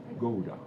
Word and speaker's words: Gouda: Do you know how Finnish people pronounce the name of Gouda? No. Gouda. Gouda. Yes, that's the difference. When you pronounce G, we say G. And for you, it's G.